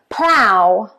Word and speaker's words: plough: Plow, plow, plow as in flower. Ow, plow.